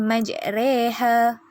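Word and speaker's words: مجريها: ayat 41 dimana perkataan majreha di bawah roh terdapat simbol imalah yang dimaksudkan dengan condong karena itu sebutan yang lebih jelas untuk menyebut Roro itu adalah secara reh pada perkataan x-ray oleh itu cara bacaan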